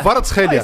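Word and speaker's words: Kvaratskhelia: Varatskhelia.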